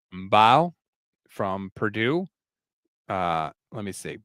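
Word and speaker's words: Mbow: Mbao from Purdue. Let me see. Bao like bow and arrow. Oh, Bo. Marcus Mbo from Purdue.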